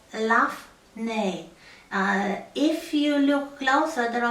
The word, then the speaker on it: lough: So the Scottish Gaelic is loch, the Irish Gaelic is lough. Apparently it's pronounced this way. I asked some Irish people.